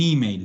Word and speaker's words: email: En italiano vamos a cargar en la E que se pronuncia como I. Un email.